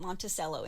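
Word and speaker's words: Monticello: By the way, it's spelled like Montichello. We call it Monttoello in Kentucky.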